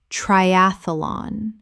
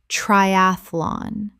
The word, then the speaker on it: triathlon: cavalry, cavalry Word 288, triathlon common mispronunciation, triathalon correct pronunciation, triathlon Three syllables in natural speech. The middle syllable collapses.